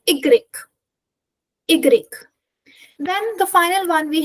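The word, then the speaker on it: i grec: It is a complete different pronunciation from that of English which means Y is this one you just have to simply remember by heart because it's completely different from that of English and has no sense in this pronunciation. So you just simply remember this one by heart. So Y is going to be igreek.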